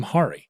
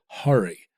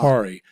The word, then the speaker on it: Hari: me many times that the pronunciation of his first name is a struggle for him because white people call him Hari yeah and the actual pronun he said sat and said hurry it's aw hurry and I'm like but